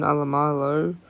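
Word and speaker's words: Alaimalo: Junior Tupou drops out for the Tigers due to a foot injury, which sees Solomon Alamalo, that's how you pronounce his name, makes his debut.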